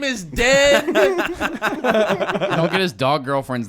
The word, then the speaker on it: Den: His name is Den. Don't get his dog girlfriend's name wrong.